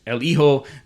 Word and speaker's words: El Hijo: However, at the beginning of the match, the announcer introduced him as El Hijo, because I think the H is not pronounced, El Hijo de Ice Cream, which